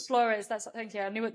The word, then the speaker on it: Flores: No, yeah, I know it's Flores. Flores.